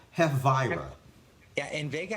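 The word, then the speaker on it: Hafyera: Invega Hafvira? Havira? Yeah, and Vega Hafiera.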